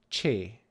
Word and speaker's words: cs: Okay, then we have a unique consonant, which is spelled with a CS, and we call this che. Che. So that's a ch sound.